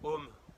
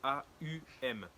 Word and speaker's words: Aum: C'est un son, en fait on dit souvent Om, OM, sauf que la réelle façon de le prononcer, de le dire, c'est AUM.